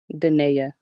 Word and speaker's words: Denaya: Denaya.